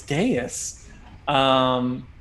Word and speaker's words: dais: the top you see on a dais, which is the way I pronounce it. I hear it differently every other day. I don't know, but I think it's dais.